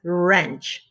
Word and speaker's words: wrench: thinking about yes it's wrench the the word wrench has the er sound so the w is silent good job number six